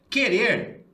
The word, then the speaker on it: querer: Por exemplo, querer, a sílaba forte é a última sílaba. Né? Querer, eu não falo querer, eu falo querer. Então a sílaba forte é aqui.